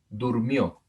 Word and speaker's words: durmió: Durmió, durmió, acento en la última sílaba.